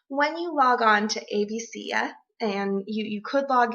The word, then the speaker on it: ABCya: pronouncing it wrong but i've just always called it abc yeah um and i haven't heard it said any other ways um in my academic circles so when you log on to abc yeah and you you could